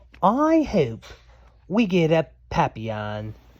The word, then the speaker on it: papillon: I hope we get a papillon, like our neighbor's dog. You say it like this, papillon.